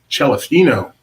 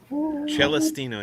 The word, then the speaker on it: Celestino: for Laughing Place, Celestino. That is the proper Italian pronunciation. Is it really? Celestino, yes.